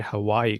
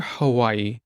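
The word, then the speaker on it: Hawaiʻi: think people should say Hawaii correctly too so let's just say it correctly again let's just repeat it it's Haw the W is sometimes pronounced as a v but there's definitely what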